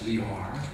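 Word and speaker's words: Lehár: by franz franz liar i spell it in pronounce it in the german way franzley franz leor okay the german title is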